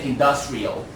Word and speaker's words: industrial: Maybe say that once again, industrial. Yeah, and thank you. And the verb form industrialize still on the second syllable.